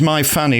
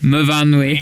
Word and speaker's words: Myfanwy: Is that how you say it? It's MYFAN. There's a W. How do we say that then? Myfanwy. Oh, Myfanwy. Of course, your S's become your V's, don't they? Yes.